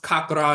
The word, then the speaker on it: chakra: and later chakra, but it's still pronounced kakra in certain dialects in India.